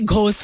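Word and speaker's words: ghost: अभी last time भी घोस्ट लिखा हुआ था क्योंकि अंग्रेजी में GH लिखा होता है और उसका H जो है वो साइलेंट होता है, तो उर्दू में भी उसको ट्रांसलेट करके घोस्ट लिखते हैं.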